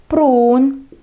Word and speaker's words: pruun: Pruun, pruun, протягиваем две У.